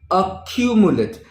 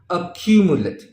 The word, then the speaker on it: accumulate: now follow the pronunciation accumulate the stress is on cue accumulate now what does this